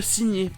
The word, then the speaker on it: sign: Ou encore le verbe signer, sign.